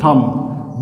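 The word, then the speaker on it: thumb: सी ओ एम बी कॉम टी एच यू एम बी थंब बी ओ एम B bomb D यू एम बी डम।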